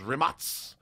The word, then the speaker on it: Rimac: Actually pronounced Rimac.